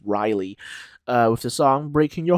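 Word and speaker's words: Reiley: you pronounce it, and Riley, I believe that is how you pronounce it, not Rayleigh, I'm pretty sure it's Riley, with the song Breaking Your Heart.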